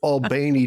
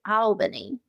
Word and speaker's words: Albany: Uh yeah, it's uh actually they say Albany. Al Oh. I think they add an extra syllable.